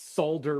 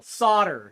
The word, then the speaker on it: solder: well Grant you're American don't pronounce solder with an L solder is that better do you like that